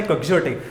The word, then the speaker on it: quixotic: इसका actual pronunciation है क्वेक्सियोटिक।